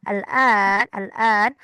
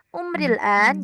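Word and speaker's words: الآن: Al-an itu cara apa? A-nya itu pakai bendera al-an ya, al-an panjang. Umril an, jadi kita bisa bacanya umril an, bisa langsung seperti itu. Umril an, jadi ya matinya tidak terbaca, langsung ke al-annya, umril an atau bisa umri al-an gitu ya.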